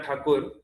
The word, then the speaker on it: ठाकुर: टैगोर क्या, उनका नाम था रविंद्रनाथ ठाकुर, पर क्योंकि ब्रिटिशर लोग ठकोर ठकोर ठकोर ठकोर, उन्होंने मिस प्रोनाउंस कर करके उसको टैगोर बना दिया।